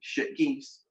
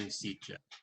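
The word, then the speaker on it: Sitges: Shit geese?" He tried to distract me by mispronouncing Sitja.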